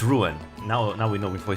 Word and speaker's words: Ruan: I always pronounce Ruan for some reason like very French kind of like like like Juan but uh it's not. It's Ruan.